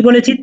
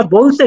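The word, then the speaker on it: ب: আজকে জাস্ট শুধু আমরা বলছে শিখবো এটাকে আমরা কি বলবো বা বলুন বা এটা এক আলিফ টান হবে এক সেকেন্ড টান হবে বা বাড়ুন বা জি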